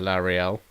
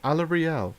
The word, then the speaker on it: Alarielle: our defensive alliance sneakier larry elle or alarielle as she's sometimes of pronounced we are the guardians